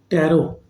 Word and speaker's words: tarot: second now you you people might be watching tarot so it is t r r o t but pronounced as tarot tarot reading numerology P Myster and pH reading